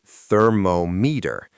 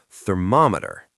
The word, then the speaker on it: thermometer: Many people want to say thermometer, but the stress, the strong part of the word, is on the second syllable, thermometer. Thermometer. It's like the word mom. That's a good way to remember it.